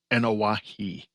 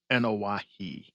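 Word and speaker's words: Anoa'i: ever, which is the Anawahu or Batu dynasty, however you pronounce that. But yeah, it was crazy. It's pronounced Anawahi and a Fatu.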